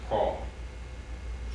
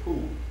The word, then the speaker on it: Poul: name it's called p-o-u-l it's pronounced paul but some people still call me poo and then can you